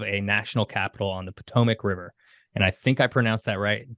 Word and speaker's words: Potomac: original creation of a national capital on the Potomac River and I think I pronounced that right did I pronounce that right